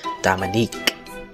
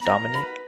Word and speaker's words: Dominic: didn't realize it because she pronounced it Dominique. No one else raised their hand, so I figured it was me and raised mine. Right after I did, I tried to say, it's Dominic, but I guess I